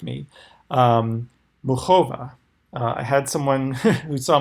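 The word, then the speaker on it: Muchová: tell me that it's kind of like the CH in like the composer Bach. So Muchova, she had that amazing match versus Pliskova yesterday that went to 13-11.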